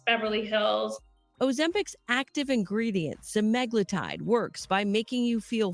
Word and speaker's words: semaglutide: Ozempic's active ingredient, semaglutide, works by making you feel full longer. Doctors say it's similar to Wegovy, which has been approved for weight loss by the FDA. Okay, so they call it semaglutide.